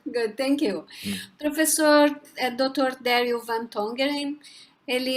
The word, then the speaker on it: Daryl Van Tongeren: Como se pronuncia, mas é Daryl Van Tongeren.